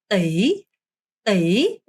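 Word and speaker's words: tỷ: 자, 여기가 바로 T 아니고요. 여러분 T 하시면 안 되고요. 떼이. I를 쓰든 Y를 쓰든 상관없어요.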